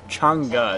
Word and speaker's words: Chang'e: to the for cha changa is how she pronounces it or how the noun says it um FNG you're going